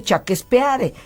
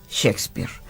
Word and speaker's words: Shakespeare: pronto y rápido pero en realidad no se dice chaques peare se dice Shakespeare pero tú llámalo como